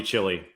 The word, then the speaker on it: Kuc: that's good here I'm gonna call you chili I mean it works it's an easy way to let people know how to pronounce my last name without like being weird about it I can't I'm not gonna be like the H is silent you know it's just it's like a Chili cook-off it's easy or you